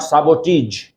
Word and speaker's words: sabotage: told you doesn't apply there so there we pronounce massage. In the same way, s a b o t a g e, not sabotage, but sabotage.